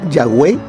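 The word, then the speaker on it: Yahweh: palabras a esas letras fue que se intercalaron vocales para poder entonces poderlo pronunciar y vemos que ahí sale la palabra ya way la palabra llave entonces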